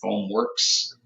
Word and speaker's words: FoamWerks: it is that's right foam works w-e-r-k-s is how we spell it is one word foam works ah I wanted to